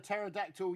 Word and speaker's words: pterodactyl: can't you hear a pterodactyl using the bathroom cuz the p is silent there you go just